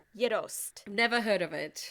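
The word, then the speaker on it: gjetost: It's called Yidost. Never heard of it. Yidost is spelled Gjeost.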